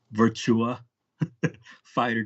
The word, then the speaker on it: Virtua Fighter: was ahead of its time uh let me pronounce it right Virtua Fighter 2 oh yeah yeah virtue fighter and then